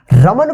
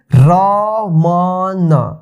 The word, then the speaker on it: रमन: देखिए रमन को इंग्लिश में कैसे लिखेंगे? देखिए रमन, रमन उच्चारण देखिए, रमन लास्ट में अ की साउंड नहीं आ रहा है, देखिए यहाँ पे रमन,